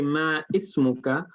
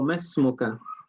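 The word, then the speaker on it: ما اسمك: Do I say ma ismuka or masmuka? مسموك. Ma ismuka is a very common mistake.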